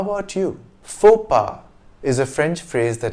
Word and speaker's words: faux pas: of the word and as is typical of french pronunciation the consonants at the end x and s are silent fopa means a social gaf